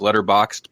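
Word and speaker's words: Letterboxd: It's spelled like letter boxed but no e at the end.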